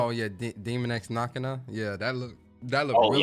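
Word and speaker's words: Daemon X Machina: How you pronounce it? Dex Machinima. Oh yeah, Demon X Machina.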